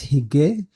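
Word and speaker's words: hygge: about uh a Danish word that's known as higge I don't know h-y-g-g-e is this a really popular term oh that's how it's pronounced so they said that you've got hookah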